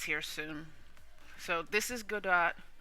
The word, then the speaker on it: Godot: soon so this is good do or I think it's pronounced Gord do everybody says it differently but uh this is